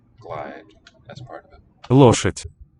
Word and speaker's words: лошадь: Лошадь. Лошадь. Лошадь. Лошадь. With the final soft marker raising the weak final vowel before.